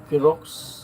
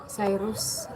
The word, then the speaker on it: Cyrus: Ano tamang pronounce ito ma? Kirox? Cyrus.